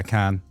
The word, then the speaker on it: Khaen: Yeah, Khaen. No, not Cancun. Yeah. Just Khaen.